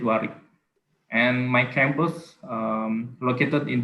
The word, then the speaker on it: Warwick: In the written, it's Warwick, but we say it Warwick.